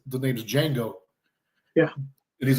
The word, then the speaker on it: Django: And he says, the name's Django. Yeah. And he's like, spell it. And he's like, D-J-A-N-G-O. And he goes, the D is silent.